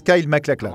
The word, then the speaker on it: MacLachlan: Alors ça se prononce Kyle MacLachlan, hein ?